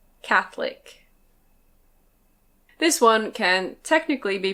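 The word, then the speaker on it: Catholic: This one can be pronounced "Cath-o-lic". Cath-o-lic. But we usually say "Cath-lic". Cath-lic.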